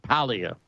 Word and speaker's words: Paglia: And I think the G's silent. I think it's like Paglia. Paglia. Is the proper pronunciation. I've been back and forth with that pronunciation myself. So Paglia, I think, is correct. So, yeah, but you know what I mean.